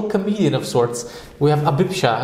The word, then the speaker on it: Abhipsha: of sorts we have abisha is how you say that it means desire which